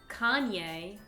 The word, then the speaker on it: Kanye: un artiste très connu qu'en France on appelle Kenny West Kenny West le mari de Kim Kardashian qui s'appelle aux États-Unis kanier West kanier donc Canier c'est devenu Kenny